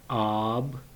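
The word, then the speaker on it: آب: first one is called aaab alif with the mud sign pronounced as ah and b is b so ab and the next one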